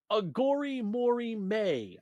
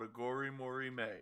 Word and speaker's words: Aghori Mhori Mei: uh so yeah so we're we're looking at aor Mory may I think is how it's said there's an